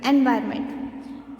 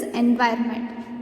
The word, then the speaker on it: environment: This is natural environment. So can you say this word? This is environment. You should not pronounce it as environment. It is environment.